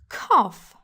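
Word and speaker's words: cough: commanditant là tout en anglais était prof prononcé kof tout comme top box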